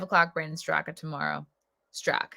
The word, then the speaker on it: Straka: Strock, not Straka. The A is silent.